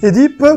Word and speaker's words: Oedipe: les pieds enflés et se prononce oedipe ou est dit et bien si à l'origine on disait et deep tout comme on disait d'ailleurs amusé m aujourd'hui la prononciation oedipe et tout à fait acceptée et les deux peuvent se dire sans aucun problème le jeune homme grandi